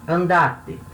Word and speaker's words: andate: Quando eu coloco o T, lembra, eu falei, a sílaba tônica do verbo, ela tende a ficar no mesmo lugar, ela não muda. Então, a sílaba tônica continua sendo dar. Só que agora a palavra é uma palavra de 3 sílabas, cuja sílaba tônica é a segunda de trás para frente, né?